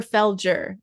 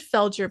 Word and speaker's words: Felger: deep deep love for is it Felgar or Felgger? I never pronounced it right. Felger. It's Felgger and right? Felgger and Kums. Okay. I've always said Felure, but I thought I heard someone say Felgger